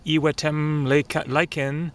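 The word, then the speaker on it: Iwetemlaykin: edge of the lake it is pronounced e lyen and the nesp spelling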